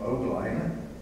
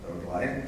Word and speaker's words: Ogline: I was told to pronounce his name Ogline. Ogline, did I do that good?